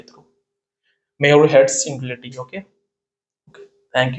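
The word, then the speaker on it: Muirhead: तो आप एक इनक्वलिटी है म्यूट्स इनक्वलिटी, ठीक है, म्यूर हेड्स इनक्वलिटी बोलते हैं बेसिकली इसका प्रोनाउंसिएशन।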